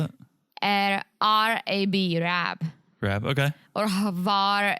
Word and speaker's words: Rab: Spell it. R-A-B, Rab.